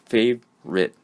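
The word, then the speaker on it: favorite: it is two syllables fav Ritt okay the O in that word is oftentimes silent skipped so sometimes the spelling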